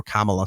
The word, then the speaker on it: Kamala: had an interview with Cala Harris at um or Kamala sorry I get yelled at for saying it wrong kamla Harris in Detroit uh